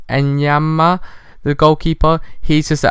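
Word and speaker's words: Enyeama: And Yamana, wait, let me just check how to properly pronounce this guy's name, guys. Sorry, just 1 second. It's Enyama, the goalkeeper.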